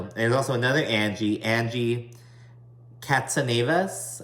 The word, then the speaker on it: Katsanevas: And there's also another Angie Katsanevas. I believe that's how you say it, Katsanevas. I think that sounds Greek. It might be Greek.